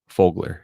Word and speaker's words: Fogler: Fogler.